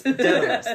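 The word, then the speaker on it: Daedalus: Datalus. Detalus. Datalus. Dalus. Detalus. There we go.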